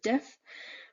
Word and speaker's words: diff: We pronounce diff as a word, so CBC with diff.